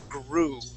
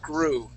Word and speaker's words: guru: Guru try that please grw what is he what is it grw gr okay good much better so we're going to say GR all right so uh